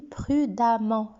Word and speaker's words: prudemment: j'ajoute e double mmtc se prononce comme un an je le lis prudemment ça veut dire avec